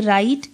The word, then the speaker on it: write: और WRITE, right, जिसमें W silent है, इसका मतलब होता है लिखना.